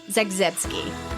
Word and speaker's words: Zagzebski: Today I am so excited to be interviewing Miss Kathy Zagski. Did I say it right? You did. Kathy Zagski.